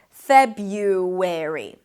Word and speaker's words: February: Now, you can drop actually the first R and pronounce it as Feb-u, with a Y instead, February.